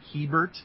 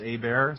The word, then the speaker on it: Hebert: My last name is spelled like Hebert, but it's pronounced Hebert, so folks in Canada can certainly relate to the French Canadianism of it all.